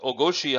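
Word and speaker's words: 大腰: Well, the first character, o, it can also be pronounced tai or oki, but in this context it's o with a long o sound. And that means large or big or major. Koshi or goshi in this context is the word for hip or waist. So o goshi.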